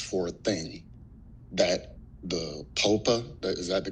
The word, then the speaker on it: PPOA: a thing that the POPA that is that the correct pronunciation? Yes, popa.